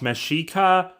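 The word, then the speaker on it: Mexica: after the mexa people which should technically be pronounced mesika and of course this being a civilization before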